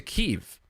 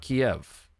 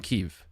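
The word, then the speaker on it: Kyiv: the situation in Ukraine with uh respect to Kev. Let's talk about why I said Kev and not Kiev.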